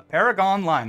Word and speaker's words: Paragonline: the second half of our Paragon line uh Paragon line that's how you say it our Paragon Line